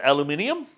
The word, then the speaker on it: aluminium: This particular welding rod will pretty much glue all those non-ferrous type metals together like that of aluminum. Or as other people pronounce it, aluminium.